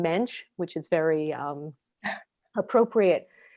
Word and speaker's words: Mendes: aristidis de souza mendes the portuguese pronounced pronounced his name mensch which is very um